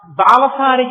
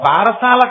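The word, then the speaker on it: బాలసారె: అందుకే ఇప్పటికీ మీరు సంప్రదాయం తెలుసున్న ఇళ్లలో చూడండి, గబగబా చాలా ఏదో బాలసారి చేస్తుంటారు. బారసాల కాదు, బాలసారే. బాలసారే అంటే బాలునకు ఇస్తున్న సారే, కానుక. దాన్ని బారసాల, బారసాల, భారసాల, ఎంత భారమైనా ఎక్కించారు. అసలు దాని ఉచ్చారణ బాలసారే.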